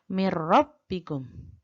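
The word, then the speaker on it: مِن رَّبِّكُمْ: jadi langsung ya kemudian nun mati bertemu dengan roh mirrobbikum mirrobbikum langsung jadi bukan mirip salah mirrobbikum Hai hukum bacaan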